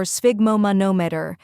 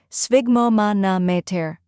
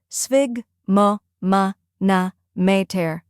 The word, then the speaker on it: sphygmomanometer: First part, sphig, rhymes with twig. Second part, mo, like in moment.